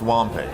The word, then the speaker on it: Wampei: a WOM Paycom it's W and Pei comm pronounced womp a one thing else I